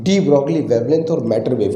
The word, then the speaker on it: de Broglie: और 1924 में डी ब्रॉगली ने, जिसको सही तरीके से डी ब्रॉय भी प्रोनाउंस करते हैं, तो डी ब्रॉगली